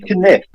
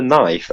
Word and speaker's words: knife: I pronounce it. Yeah, it's gonna be misspelled all the words. Has to be the kniff. What? The kniff? You mean the knife?